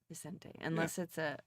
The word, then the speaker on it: Vicente: Because there's not it's not Vin, which would be Vincent. It's Vicente.